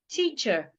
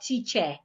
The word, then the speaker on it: teacher: So when you have e r at the end of a word or you have o r at the end of a word, make sure you are using the sure sound.